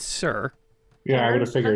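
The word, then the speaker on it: Tser: by the uh okay how would you pronounce this t-s-e-r i have never known how to pronounce that a day in my life i'm hearing from my producer it's sir yeah i'm going to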